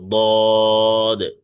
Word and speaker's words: ضاد: ضاد মোটা আওয়াজে তিন আলিফ টেনে পড়তে হবে, ضاد।